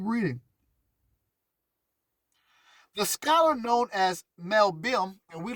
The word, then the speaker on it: Malbim: So I'm giving you Mel Bim. It's spelled M-A-L-B-I-M. That's his name, so make sure you research him.